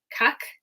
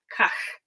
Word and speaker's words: Kahk: to her research was pronouncing this kind of like cake like kak kak but and further back in your throat right K so Andrew